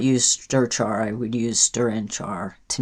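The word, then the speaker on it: strchr: And I'm going to use the strchar function Strchar is how that is pronounced.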